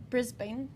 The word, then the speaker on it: Brisbane: Australian yes exactly so she was fighting in Brisbane do I pronounce that right you did you did you did it might be Brisbane but you know Silicon Valley Silicon Valley tomato